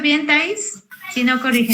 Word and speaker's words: Thais: ¿Lo pronuncio bien, Thais? Si no, corrígeme. Sí, es Thais. Perfecto, Thais. Sí, sin acento, gracias.